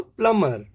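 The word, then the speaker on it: plumber: है साइलेंट रहने के यदि एम के बाद बी आता है एम एम के बाद बी का कॉमिनेशन आ जाए एम बी का कॉमिनेशन हो जाए तो हम बी को प्रोनाउंस नहीं करेंगे थम तो पहला वर्ड हमारा है टॉम क्लाइम कोम थम प्लमर जो यह प्लंबर है प्लंबर नहीं बोलना है इसको प्लमर लिम लिम नहीं लिम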